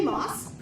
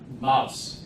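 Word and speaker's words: Maus: So we'll have another one of our new members, Moss. Am I pronouncing that correctly? Mouse. Just like the mouse by your computer.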